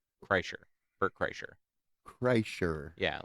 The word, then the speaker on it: Kreischer: Kreischer. Bert Kreischer. Kreischer. Yeah, like Kreischer. Okay. I think that guy's is called the Machine. Yeah. I keep wanting to say Chrysler.